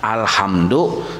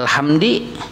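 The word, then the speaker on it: الحمدُ: Tak ubah, harusnya alhamdu dibacanya alhamdi. Nah tak ubah narannya.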